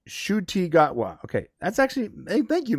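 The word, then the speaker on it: Ncuti Gatwa: the coming uh it's Shu gotwa okay that's actually thank you Michael I can't pronounce name that actually helps shwa shwa so the N is silent and so is the C I guess I gotta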